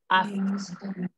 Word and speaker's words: asked: Ask. Yeah. Ask. Yes. La mayor parte de los verbos en pasado, recuerden que esa E no se pronuncia. Entonces, ask. Por eso es ask. Omito la E.